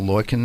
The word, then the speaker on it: Loikannon: very happy to have on the line Balto Boykin and he's the CEO of grow VC group